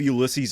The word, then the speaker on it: Ulysses: I think of Ulysses S.